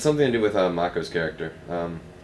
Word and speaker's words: Mako: something to do with mako's character um is it moo or Mak they pronounce it Mako so um and of